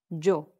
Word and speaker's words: yo: I is yo, not yo. The Y sounds like a J, as in job, and the O, just O. Yo.